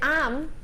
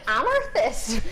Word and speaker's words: amethyst: So they spelt it phonetically on how to pronounce amethyst, and it said am-er-thist. I was like, amethyst? Since when has amethyst got an R in it?